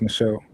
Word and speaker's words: Michelle: I'm I'm assuming it's pronounced Michelle. Oh, what? You got that right. Yeah, that's right.